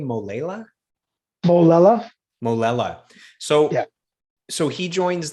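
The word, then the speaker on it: Molella: Molela.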